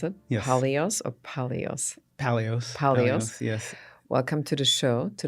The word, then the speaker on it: Paleos: Paleos. Is that how you pronounce it? Yes. Paleos or Paleos? Paleos, yes.